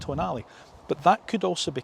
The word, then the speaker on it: Tonale: Certainly not called the Toenail. That would be silly to call a car a toenail. It's pronounced Tonale.